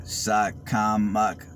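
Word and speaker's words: Shakamak: i'll drive through real quick these are called shotcom mock apartments that is spelled s-h-a-k-a-m-a-k these are retirement apartments i'm sorry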